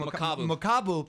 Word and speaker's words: Makabu: Makabu.